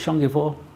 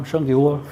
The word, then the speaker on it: S-onguiwul: And again, if you're here, it's S-onguiwul, but where I'm from, S-onguiwul. Nothing's wrong. It's all the same thing.